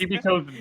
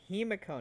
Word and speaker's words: Himiko: I Well, know we it's just- Kimiko's name, damn it. No, it's Himiko, not Kimiko. Come on. It's Shimiko.